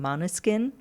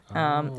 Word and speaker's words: Måneskin: They're called Måneskin. Måneskin. Uh-huh. It's a Danish name. Okay. I think in Danish it means moonlight. It's Maneskin.